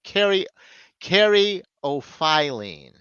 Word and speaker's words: caryophyllene: Merriam-Webster, though, says caryophyllene. No, caryophyllene. File, but it's an O, not off. So caryophyllene.